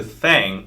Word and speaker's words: 땡: The pronunciation of 땡 is similar to thang, which is the slang of thing in English.